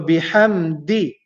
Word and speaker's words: بحمد: And the last letter in the second word is the letter dal. The letter dal pronounced using the top tip of the tongue. Da. فسبح بحمد da di do da di do, and here is di, so bihamdi di.